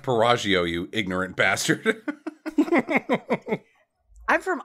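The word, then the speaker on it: Piaggio: just good it's it's it's pronounced pagio you ignorant bastard I'm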